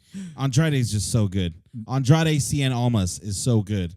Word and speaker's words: Andrade: can't I can't not just calm Andre it's Andrade it's Sein Alma's for